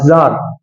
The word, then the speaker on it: tsar: ঠিক আছে, TSAR, জার। ঠিক আছে, টি এর উচ্চারণটা সাইলেন্ট, বুঝা গেল?